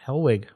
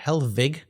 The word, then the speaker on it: Hellwig: what they do uh hellwig or helvig i guess is the way we used to say it right as good german yeah uh is the